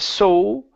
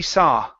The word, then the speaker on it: saw: Next up, we have the word saw right here instead of so with an oo sound at the end. This is only an ah. So the first mug he saw.